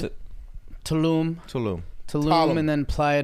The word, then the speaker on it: Tulum: How do you, I how do you sure pronounce did. it? Tulum.